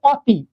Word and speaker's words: অতি: খেয়াল করি আমরা কখন যদি অ এর পরে যদি রসিকার অথবা দুই থাকে তাহলে খেয়াল করে দেখেন আমি বললাম এটা দেখেন তো কি এটা হচ্ছে অযেন এরপরে যদি একটা তি লাগাই তাহলে হবে কি বলেন তো অতি আসলে কি আমরা অতি উচ্চারণ করি আমরা কি উচ্চারণ করি